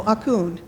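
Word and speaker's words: អរគុណ: So, Akun.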